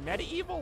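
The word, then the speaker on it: MediEvil: we just talking about Med evil is it no it's pronounced medeval or just like medieval but you just say the evil part more all right cut scene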